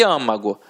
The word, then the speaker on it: âmago: E âmago, aqui, né? Âmago, ó, é uma proparoxítona, então leva acento. Como é uma pronúncia fechada, né?